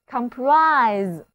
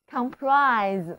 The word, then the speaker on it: comprise: 一起来念两遍吧， Comprise， Comprise。